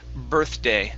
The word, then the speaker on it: birthday: last one here is birthday instead of bir birday it's birth birthday th day th day